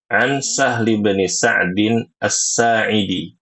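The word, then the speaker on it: سهل بن سعد الساعدي: Ini kalau ada Qala nama orang seperti ini, Ibu Sri, ya. An Sahli bin Sa'din As-Sa'idi. Jadi itu bacanya. An Sahli bin Sa'din As-Sa'idi. An Sahli bin Sa'din As-Sa'idi.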